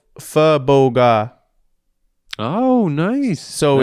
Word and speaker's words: pho: just had the best pho ever. It was fucking awesome. And respect to you for saying it right, because a lot of these people will say pho.